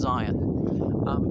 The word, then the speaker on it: Syon: It's spelled S-Y-O-N, but pronounced Zion.